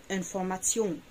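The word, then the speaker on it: Information: نيجي لحرف التي اي او ان لو جم ورا بعض تنطق تيون تيون، زي انفورماتيون انفورماتيون، لكتيون لكتيون، فونكتيون فونكتيون، اكتيون اكسيون.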